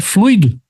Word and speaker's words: fluido: for o particípio se for um substantivo a pronúncia dessa palavra é fluido Mas se eu falar assim né a aula